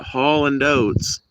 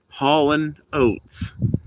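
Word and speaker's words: Hall & Oates: I literally thought it was spelled and pronounced Holland oats. Not Holland oats. Hauling oats.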